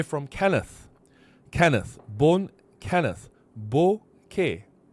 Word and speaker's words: bokeh: I said bokeh, bokeh, bokeh, bokeh, bokeh, bokeh.